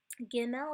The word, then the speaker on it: Gimel: Gimel is the same way. With the dot, it has that hard G sound. Both of these are actually going to have the G sound like girl.